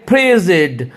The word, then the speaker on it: frigid: देखिए एफ के ऊपर आपको जोर देना है, क्या पढ़ेंगे, फ्रीजिड मीन्स एक्सट्रीमली कोल्ड, बहुत ज्यादा कोल्ड, बहुत ज्यादा ठंडा।